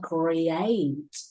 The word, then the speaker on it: create: the reason why okay you two always pronounce okay the word create like great or correct or something like this you have cre c